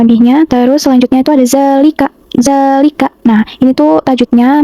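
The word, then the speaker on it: ذَٰلِكَ: Di sini tuh terdapat fathah tegak pada zal. Lalu dibacanya panjang 2 harokat pada huruf za-nya ini. Jadi dibacanya seperti ini. Zalika, zalika. Nah, itu huruf za-nya dipanjangkan itu.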